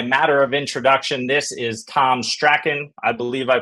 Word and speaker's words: Tom Strachan: today uh by matter of introduction this is Tom Sten I believe I pronounced that right Tom I meant to ask